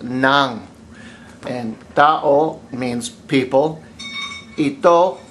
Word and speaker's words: ng: It's ng, but it's pronounced nang.